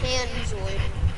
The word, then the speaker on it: Panzoid: Is it Penzoid? No. Oh, what is it? Oh, it's Panzoid. Panzoid?